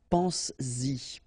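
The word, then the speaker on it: penses-y: to produce it orally, because you will pronounce it pense-y, pense-y, okay? Pense-y, all right? So you get to make this liaison.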